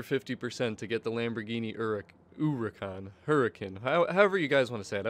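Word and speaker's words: Huracán: me different things, but I like to say Huracan, because from what I've been told, the H should be silent, the correct actual pronunciation, so it's like, ooh, you know, the U, kind of, the Huracan.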